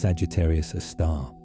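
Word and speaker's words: Sagittarius A*: Pronounced Sagittarius a star.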